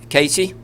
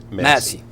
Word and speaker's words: Massey: Ken Casey. Massey.